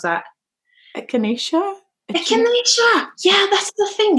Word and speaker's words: echinacea: I don't know how you pronounce that. Echinacea?